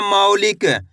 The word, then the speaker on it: मौलिक: माँ में औ की मात्रा मौ, ला में छोटी ई की मात्रा ली, क तो मिलकर बन जाएगा मौलिक। कैसे पढ़ेंगे? मौलिक। माँ पे आपको जोर लगाना है।